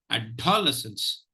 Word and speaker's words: adolescence: is the stress syllable now how many unsafe syllables will you have ADD less and ends of course after all you have less than ends so it will be pronounced like this adolescence at all lessons fine